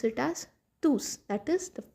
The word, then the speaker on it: tous: we pronounce it as tus that is the pronounced final s we pronounce the final s we say elontus la.